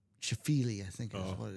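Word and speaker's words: Scheifele: They're Sheffller. No, not Sheffller. S C H I or H E I F E L E. Chafili, I think is what it is. Shaili. Let me get that pronunciation. Shley.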